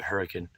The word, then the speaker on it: Hurricane: what they call it it's spelled it's spelled like hurricane but um they call it hurricane i only know that